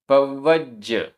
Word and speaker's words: पव्वज: पव्वज, पव्वज, आधा व पूरा व, आधा ज पूरा ज, पव्वज।